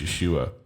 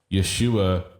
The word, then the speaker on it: Yeshua: That's just how you say his name in, I believe that's Hebrew language, Yeshua. Yeshua is just how you say it in that language.